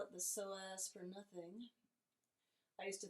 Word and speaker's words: psoas: don't call it the soas for nothing I used to think it was a joke but it's actually um a combination of two muscles that ILO soaz and it's spelled PS OAS all right so that's